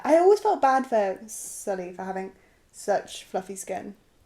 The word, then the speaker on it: Sully: about Easter eggs of stuffing other films but Scully gets Sully oh have I said it